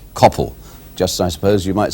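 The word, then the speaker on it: Coppell: in fact it should not be Coppel but Capel as in hell all I can say to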